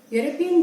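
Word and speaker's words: European: यूरोपियन जो word है इसमें ई लेटर साइलेंट है और आवाज हमें यू की सुनाई देती है।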